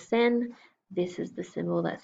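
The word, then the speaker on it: 先: This is the symbol that says sen.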